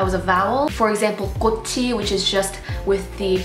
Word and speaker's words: 꽃이: a vowel, for example, 꽃이, which is just with the particle added to it, you would then pronounce the chiit only because of resyllabification, so that it turns into 꽃이, 꽃이.